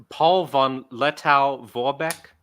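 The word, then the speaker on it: Paul von Lettow-Vorbeck: Paul von Lettow Vorbeck.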